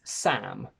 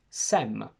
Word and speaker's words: Sam: My name is Sam with an open A, but this sound doesn't really exist in many other languages that I know. So let's see how some foreign languages behave when they pronounce my name. In Italian, the sound A doesn't exist, so the closest option is E. So Italians call me Sem, which is different from Sam.